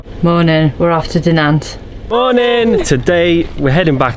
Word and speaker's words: Dinant: You're saying it wrong. You're trying to be all French now. No. It is Dinant.